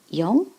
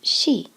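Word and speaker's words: 四: with the number four we have two pronunciations young and she again young is much clearer so when we're giving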